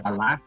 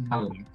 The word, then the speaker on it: בָּלָק: estamos a palavra raiz também se pronuncia praticamente Balak, só que sem um acento agudo na segunda sílaba, né? Não é, é uma palavra, mas também é o nome do rei Moabita, Balak, na Bíblia.